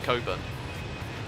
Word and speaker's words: Cockburn: confusing in Perth there's a suburb called cockburn but it's pronounced Coburn it's a real eye-opener